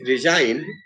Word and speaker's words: resign: Similarly, in resign, G is silent. We don't pronounce G there.